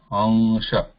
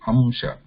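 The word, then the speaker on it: अंश: That is pronounced as ansha. See, there is ansha. I'm not, when I say ansha, there is no sound of ma. I'm not saying amsha. Amsha is ma sound there is.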